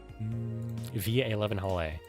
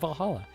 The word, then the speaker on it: VA-11 Hall-A: Via 11. The name sounds silly and a bit hard to pronounce. Good thing it's actually called Valhalla. The funny numbers and letters are just a code.